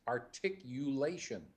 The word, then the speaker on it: articulation: you said articulation okay it's articulation articulation articulation there you go the U is important in there and you